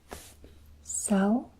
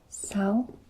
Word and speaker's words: sáu: Sáu. Sáu. And it has a ascending tone. Sáu. Một, hai, ba, bốn, năm, sáu.